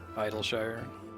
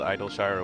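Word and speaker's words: Idyllshire: Kami, I'm pretty sure it's a pun though, because it's pronounced the same way. Idyllic, Idleshire. Don't think it's a stretch to suggest that Koji Fox might pun on a name.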